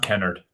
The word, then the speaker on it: Kennard: Um uh uh guys, uh because I think that Matt Canard, how do you say his name? Matt Canard. Yeah, Matt Kennard.